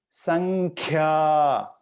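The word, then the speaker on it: सङ्ख्या: you repeat after me sankhya okay i put g here which is not really gg it's a guttural n sound because we don't have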